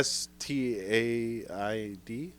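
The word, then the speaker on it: Staind: Stained. Yeah. Staid. I thought there was an N in there.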